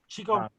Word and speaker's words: Qigong: And that Qigong, being able to, I'm saying it right? Qigong? Yeah, Qigong. Being able to tune yourself as that instrument and then amplify it and then like move with it.